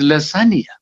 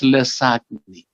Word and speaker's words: lasagna: Okay, the Italian dish is lasagna. Lasagna, which this our very innocent Malayali nurse pronounced as lasagni.